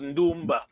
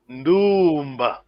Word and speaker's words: Ndumba: But in Ngala we use Ndumba for different meaning. That's why we have to pronounce correctly. Ndumba.